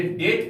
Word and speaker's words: debt: ही हैज run into डेट, DEBT, याद देखिएगा, ये डेट पढ़िएगा, DEBT, यहां पर बी साइलेंट है।